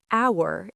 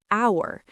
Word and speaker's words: hour: Because the H is silent. When you say hour, it sounds like hour.